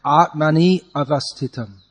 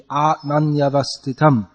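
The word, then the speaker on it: ātmany avasthitam: For instance, you're saying Atmani avastitam, but it should be Atmanyavastitam.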